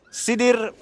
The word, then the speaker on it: Sidr: Okey tak lain tak bukan kita persembahkan sidir production. Production betul betul betul betul betul. Ejaan ni sidr sidr. Pronunciation ni sidir. Sedir.